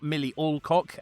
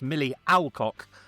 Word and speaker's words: Millie Alcock: It's not Millie Olcock, as Van told me. It's Millie Alcock.